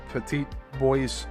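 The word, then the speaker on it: Petit Bois: On the night of November 6th, 1973, this ovoid disc crept silently into the shadows near Petite Boyce Island. That's kind of weird. This is spelled P E T I T B O I S.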